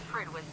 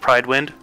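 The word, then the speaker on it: Prydwen: It does bother me they call it Pridwin instead of Pride Wind. Because it looks, you know, it kind of looks like it's supposed to be spelled, pronounced.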